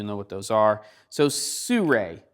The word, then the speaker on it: Sirui: what those are so sue Rae spelled Si are you i but sue Rae I have been told is the correct pronunciation is a company that